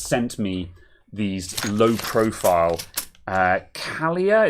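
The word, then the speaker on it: Kailh: me these low-profile uh calia is that how you pronounce it kayla kyle carl carlier those kale kale yes kale yes some kale brown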